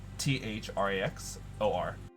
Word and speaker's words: Thraxor: say my uh destroyer of worlds can you spell that thrax the um t-h-r-a-x-o-r thraxor destroyer of worlds i think the undertaker's